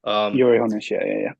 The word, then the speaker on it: Uli Hoeneß: Ralf Rangnick was never going to work, in my opinion, because when your guy Uli Hoeneß, or is that how it's pronounced? Uli Hoeneß, yeah.